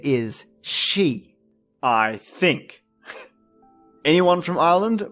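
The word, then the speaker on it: sídhe: The various spelling and pronunciation of the word for fairy mound referred to the otherworldly realm, which in Irish referred to as she or sidhe.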